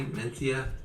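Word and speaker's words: Mencía: like about it and am i saying it correctly menthia yeah i mean the standards would say so you pronounce it yeah yeah good um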